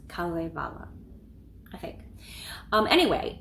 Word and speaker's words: Kalevala: And the Swedish and Finnish people, I think they were saying it like Kalevala. It seemed like it had a double accent. Kalevala, I think.